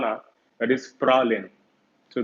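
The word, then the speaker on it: Praslin: That is Pralin. So the name of the island is Pralin. S is silent.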